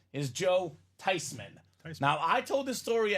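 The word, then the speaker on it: Theismann: wrong the whole time yep we're not the thesans we're not the THM we're the tyman the tyman the proper way to pronounce this man's name is Joe tyman now I told this story at Christmas family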